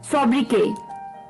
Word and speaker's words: sobriquet: शाम का, वो है सोब्रिके, सोब्रिके, SOBRIQUET, सोब्रिके, इसमें टी जो है वो साइलेंट है, सोब्रिके, SOBRIQUET, सोब्रिके, SOBRIQUET, सोब्रिके।